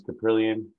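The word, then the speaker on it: Kaprielian: get get right here and that's mr james caprilian uh finally pronouncing his name right now i was just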